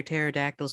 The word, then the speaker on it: pterodactyls: Why can't you hear pterodactyls go to the bathroom? Because the P is silent.